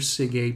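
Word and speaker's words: SIgA: it's called secretory iga or it's abbreviated sig sig is how we pronounce that and sig a is a molecule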